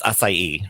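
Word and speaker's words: açaí: once some people call it a Yi its acai so that was the episode of drag race where Jessica wild couldn't pronounce it so she kept saying I love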